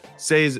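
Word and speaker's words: Sei: on X say Network say is spelled s EI go follow say onx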